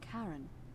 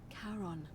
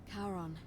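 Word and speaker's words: Charon: coin just as you described it only your pronunciation is a little off the name you heard wasn't Karen it was c h a r o n as in Caron the ferryman of the Dead karon who in exchange for the right coin helps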